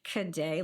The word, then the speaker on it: Cadet: You can slide in my DMs at change, the word change, CHANGE, Cadet, like cadet, CADET.